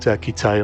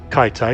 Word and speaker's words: Kitai: a little bit about Kitai or Kaitai. It can be pronounced in various different ways.